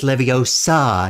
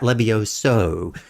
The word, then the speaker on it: Leviosa: He tells you that the way you said that last phrase of the spell, you mispronounced it. It's Leviosa, not Levioso.